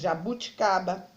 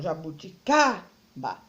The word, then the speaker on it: jabuticaba: Jabuticaba, açaí, tâmara, caju, pêssego, carambola, certo? Olhando para essas frutas, você pode observar o jabuticaba. Ela é a penúltima sílaba, então ela é uma palavra paroxítona.